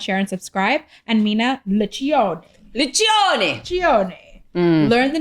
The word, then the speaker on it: Liccione: And Mina, Liccione. Learn the name, learn the pronunciation.